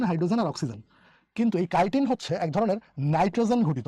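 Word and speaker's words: chitin: এই কিউটিকলটা কি দ্বারা নির্মিত এইটাই দ্বারা নিত কাইটিন বলা একটু সব একই রকম লাগে কিউটিন এ উচ্চারণ কিন্তু কিউটিন কিউটু কিউটিন আর এই এটা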